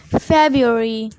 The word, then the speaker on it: February: इसमें जो आर है पहले वाला, यानी कि बी के बाद वाला जो आर है वो साइलेंट है। फरवरी।